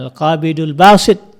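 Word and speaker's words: القابض الباسط: Al-Qabid misalnya yang Maha menyampaikan, Al-Basit, maka dibacanya Al-Qabidul Basit.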